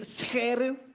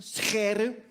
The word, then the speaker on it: Scheire: My last name is Scheire. That's how it's pronounced, Scheire. We have a lot of the g sounds in Dutch. As my foreign friends always say, Dutch is not a language, it's a disease of the throat.